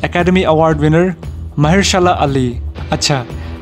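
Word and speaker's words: Mahershala Ali: का रोल निभाने वाले हैं एकेडमी अवार्ड विनर महेरशाला अली। अच्छा, ये नाम को सही से प्रोनाउंस करने में मैंने 20 बार से ज़्यादा रिकॉर्ड किया और अब मैं आपको भी सिखा देता हूँ, महेरशाला अली।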